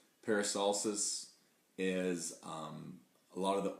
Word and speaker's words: peristalsis: with digestion is a world where it is pronounced peristalsis peristalsis is a lot of the organs and digestive